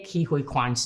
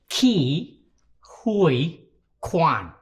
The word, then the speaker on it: Ke Huy Quan: How to say Ke Huy Quan's name? I am so glad you asked this question. My name is pronounced Ke Huy Quan.